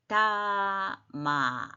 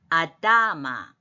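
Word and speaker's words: אדמה: 아라 그랬죠 하 하 아다마 예 그래서 이거는 그 밑에 나와 있듯이 아다마 아다다의 액센트가 있어 아다마 자 아담은 맨 밑에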